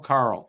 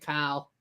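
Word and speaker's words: Karl: know why he was named So Pernell I Carl. get everybody's points, and now I'm ahead of Matt. I like that kind of math. Love how All Rick right. didn't make fun of me for pronouncing it Kyle.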